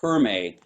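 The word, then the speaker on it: khöömei: I don't think that's pronounced. It's pronounced differently. It's spelled out kind of like Humi, but I think it's pronounced like Hurmi, something like that, singing. And it's one of the techniques for the, in fact, I have it in my book. It's pronounced Herme, actually, Herme singing.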